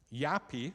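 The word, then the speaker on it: Japie: Yappy is spelled J A P I E. It's a Dutch name and it means little Jacob.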